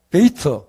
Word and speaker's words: 베이트: 이게, 히브리 말로 그대로 발음하면은, 베이트, 집을 말하는 겁니다.